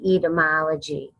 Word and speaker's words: etymology: more of what I'm speaking about etiology is ET y mo l OG y and it is pronounced with this being sort of cheap etymology etymology and I looked up the definition of